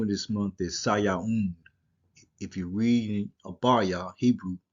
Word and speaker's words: Sayaun: You got a wa sound. Sayaun, Sayaun. All right. So you could spell that different ways. You could put a U there, uh, or either you could leave the 00 right there. So it could be either way. The pronunciation is not going to change. And this is a na right there. Sayaun. It's an N sound.